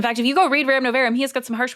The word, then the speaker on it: Rerum Novarum: Kaitlyn, and the correct pronunciation is? Rerum Novarum. Oh, you got it.